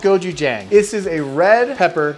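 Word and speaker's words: 고추장: Goju jang is how it that's how it's pronounced phonetic. It's called goji jang.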